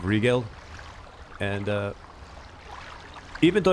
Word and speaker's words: Rigel: I used to call her Riel, but I think it's pronounced Regal.